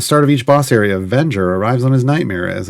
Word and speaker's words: Avenger: it in chat uh some people call it vanger but in the show they say Avenger is in like Revenge yes Avenger uh here we